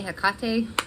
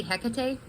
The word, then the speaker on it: Hecate: or in my mind i want to say hakate because it rhymes with takate and i'm here in texas um but i think it is actually hecate um we're gonna talk